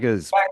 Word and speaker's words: Saggers: I'm here with my new friend uh Sagers. Did I get that right? Sagers, but that's okay. I've heard worse pronunciations.